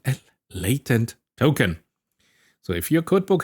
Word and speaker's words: latent: Oh yeah, I gotta remind that last time I said latent token because in German, it is latent. But of course, in English, when I go here with the British pronunciation, I put this here as a reminder that it is a latent.